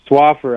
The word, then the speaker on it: Swaffar: times i just want to make sure i'm pronouncing it right darlene slapper swapper yes swaffer i had it right when before you came